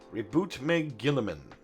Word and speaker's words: Roboute Guilliman: Roboute Guilliman.